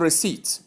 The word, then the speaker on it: receipt: Number 9, we have receipt. The P is silent also, as in the case of debtor, that is where the B is silent.